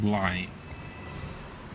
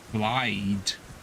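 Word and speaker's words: Blaidd: with 2 D's, but it's pronounced like Blight. Like B-L-A-I-T-H-E. Not Blide. With 2 D's on the end.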